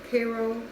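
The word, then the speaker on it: Karo: I'm using it's just regular like corn syrup Cairo Cairo Cairo pronounced but that's what I used and I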